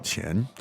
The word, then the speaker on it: 钱: 多少钱? Now, let's look at the elements. There's 3 elements there. So the word for money is 钱钱, 钱钱. second tone Yes, keep saying it over and over.